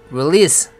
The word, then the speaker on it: release: 발음은 release, 끝에 SE가 z로 나는 게 아니라 s로 나야 됩니다.